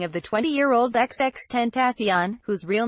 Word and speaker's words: XXXTentacion: to the Sheriff's Office ex extant accion who had dreadlocks and facial tattoos and who pronounced his name xxx 10th osteon was a platinum-selling rising